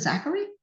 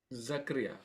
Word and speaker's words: Zachariah: Is it Zachary? Zachariah. Zachariah. Okay, Zachariah.